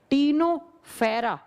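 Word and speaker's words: Ctenophora: टीनोफेरा लिखा जाता है सी से, प्रोनाउंस किया जाता है टी से, टीनोफेरा, फेरा।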